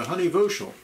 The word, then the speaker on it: Honey Voshell: Okay, we're talking to Honey Voshell. Is that pronunciation right?